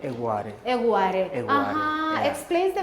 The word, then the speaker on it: Egware: It's the so it's not Egwa, Okay. it's Egg. We So got it. you have to put the pizzazz in it, so it's Egg to make it Egware.